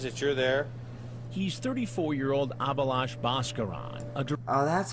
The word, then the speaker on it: Abhilash Bhaskaran: He's 34-year-old Abhilash Bhaskaran.